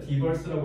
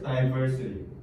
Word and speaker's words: diversity: 디버스라고 외운 사람 이거 듣게 할 때 안 들린다. 다이버스, 다이버시티.